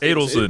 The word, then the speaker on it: Adelson: It's pronounced Adelson. But we think it's Adelson because we've seen Rick Adelson and it's spelled the same way. But it's Adelson actually. But yeah.